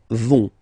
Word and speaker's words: vont: Ils, elles vont. Ils vont. Elles vont. Okay, remember, final T not pronounced, so you get this ON nasal here.